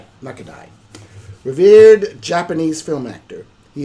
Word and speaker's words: Nakadai: Am I pronouncing that right? You know him? Nakadai. Nakadai.